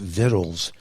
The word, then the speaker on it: victuals: It was not only a few years ago that I realized Vittles is spelled Victuals.